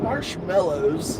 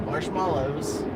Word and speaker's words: marshmallows: It is not marshmallows. There's no E. It's marshmallows. Where are we at?